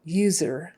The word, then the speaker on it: user: in your tongue uh user user not user user user user user that U is like a y u like the word u youer user um how